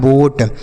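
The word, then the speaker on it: boat: ए लिखा है ना ओ के साथ अगर ए लिखा रहे तो इस ओ का उच्चारण ओ की मात्रा होगा। ठीक है? जैसे बी से हो गया ब। ओ के साथ ए है तो ओ की मात्रा टी से ट। यह लिखा है बोट।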